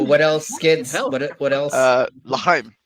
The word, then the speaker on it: L'chaim: L'chaim. L'chaim.